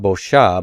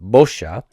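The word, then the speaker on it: בּוֹשָׁה: Notice that we're continuing to stress the first root consonant and its vowel. We have to do that unless we have a heavy ending down here. So not bosha, but bosha.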